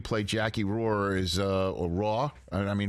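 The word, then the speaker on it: Rohr: The way you play Jackie Roar is or Raw. I mean, how do I pronounce it really? I mean, how do you Roar? Roar.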